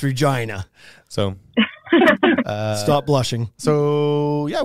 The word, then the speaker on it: Regina: So I was down in like Regina, and that's not how you say it. That's Regina.